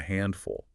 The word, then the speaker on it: handful: That table with all the special requests was a handful, but they tipped really well. And just to repeat the technical detail, the emphasis is heavy on the aan syllable. Handful.